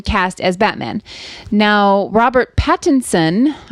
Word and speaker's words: Pattinson: batman now robert pattinson i want to make sure i enunciate that because it bothers me when people pronounce his name wrong so you'd rather people say it all crazy pattinson patent son content patents on spit all over myself so we'll just